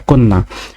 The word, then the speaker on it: কন্যা: কন্যা বানানে কওকা দন্ত নয় হসন্ত দন্ত নয়াকার, কন্যা।